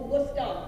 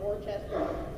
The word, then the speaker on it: Worcester: Hacker Dojo and my college, which is spelled or pronounced Worcester. Or Worcester, the locals, not Worcester.